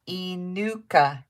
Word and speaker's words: Inuka: and that does include shipping number 10 number 10 my name sort of phonetically sounds like inuka inuka okay thank you i can say that e nuka okay i think i did it right number 19 number 19.